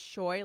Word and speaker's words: Shoy: It's Shoy, like how you pronounce boy.